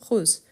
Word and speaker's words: Rose: Rose, c'est un E muet, tandis que rosé, c'est la règle, les mots qui finissent avec les E accentués pour marquer que les E doivent être prononcés.